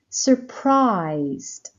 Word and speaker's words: surprised: there's no Str strange surprised surprised again surprised the stress is on the second syllable prized valuable valuable valuable